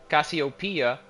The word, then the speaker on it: Cassiopeia: pronounce it as Cassiopeia I've always pronounced it as Cassiopeia and apparently that's that's the right way of pronouncing it because of how this